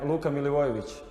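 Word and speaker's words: Milivojević: So if you are wondering how his name was pronounced, it's pronounced like this. I am Luka Milivojevic.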